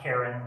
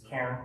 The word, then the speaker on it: Cairn: It's not Karen, like someone who's going to call the cops on you for parking in the wrong parking spot. Okay. It's Cairn, one syllable.